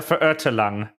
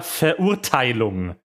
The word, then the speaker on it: Verurteilung: Ah, yes, the Prinzessin der Verirrtelang. It's not how you pronounce that Fischl's voice actor, but I guess you don't speak German, so it's fine. It's Prinzessin der Verurteilung is how you pronounce it.